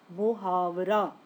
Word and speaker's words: محاورہ: یہ عربی زبان کا لفظ ہے جس کا صحیح تلفظ ہے محاورہ، جس کے معنی ہے بات چیت، گفتگو۔ اس باب کے مطابق محاورے کا مطلب کیا ہے؟